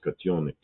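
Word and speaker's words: котёнок: So that that's pronounced katonic.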